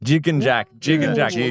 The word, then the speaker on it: Gigengack: Gigengack? Wrong. Oh. Gigengack. Gigengack. Like a jigsaw.